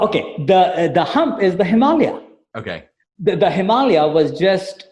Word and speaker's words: Himalaya: And it's pronounced Himalaya, not Himalaya, correct? Correct. It's Himalaya. Himalaya.